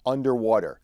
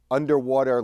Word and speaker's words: UNDW3: It's called the UNDW3 card, and I believe that UNDW3 is pronounced underwater, the underwater card.